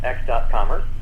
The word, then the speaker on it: x.commerce: small size we uh we usually pronounce the dot x.commerce okay x.commerce is a